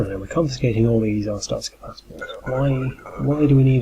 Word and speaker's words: Arstotzka: We're rolling in Arstotzkan passports. I think you meant to pronounce it Arstotzka.